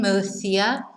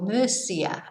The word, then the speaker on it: Murcia: an e is f like gracias but in mathia you will hear uh gracias or mercia right so you will hear it pronounced not list but more like an s